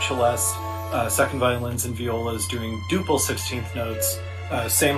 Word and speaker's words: Viola: me when you see v-i-o-l-a I think it's Viola because it was a baseball player that used to play for the Twins and the Mets uh Frank Viola so I would never bother